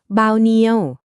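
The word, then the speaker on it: bao nhiêu: จำ คำ นี้ ไว้ ให้ ดี เลย ค่ะ บาวเนียว เรา มา ลอง ดู ตัว อย่าง การ ใช้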